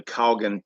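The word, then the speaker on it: Kalgan: um when nationalists were advancing toward was the Coggin k-a-l-g-a-n is how it's pronounced past through which the Reds were moving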